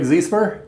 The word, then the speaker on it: Ziesemer: Greg Zemer, did I pronounce it correct?